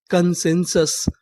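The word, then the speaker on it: consensus: उ की मात्रा लेकिन कभी कबभार हमें यू को इंग्लिश में आ भी पढ़ना पड़ता है तो एस यू एस इसे क्या पढ़ेंगे सस तो हमारी पूरी मीनिंग क्या बनी कसंस कंसेंसस कंसेंसस कंसेंसस का मतलब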